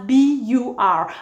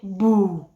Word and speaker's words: bur: It's spelled as B-U-R as well, but we omit the R. So instead of saying bur, we say boo, boo, boo, which means hole.